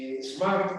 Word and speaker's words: smart: En inglés británico no se pronuncia la R.